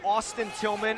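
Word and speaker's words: Tilghman: subs into the game Austin Tillman and Zach Tillman but they are not related Austin Tillman's name has actually spelled TI LG h ma n while pronounced in the same way Zach Tillman's is 5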